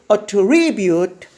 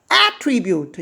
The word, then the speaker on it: attribute: 똑같은 단어가 동사로 쓰이면 강세가 뒤에 있고 attribute 반면에 똑같은 단어가 명사로 쓰이면 앞에 강세가 있습니다. attribute 이것을 이름하야 명전 동의 원칙인데 단어 중 98% 정도는 아마 적용될 겁니다.